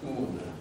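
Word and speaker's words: οὖν: The word in Greek is pronounced un, un.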